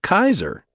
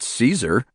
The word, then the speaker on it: Caesar: His full name was Gaos Ulio Caesar and he was referred to as Gaees by Romans who it is believed pronounced his last name as Kaiser not Caesar.